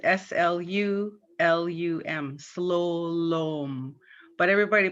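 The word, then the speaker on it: slulum: spelling on that the the u's are pronounced as o and it's spelled with two u's s-l-u-l-u-m slo-lom but everybody pronounces it slolum so it should be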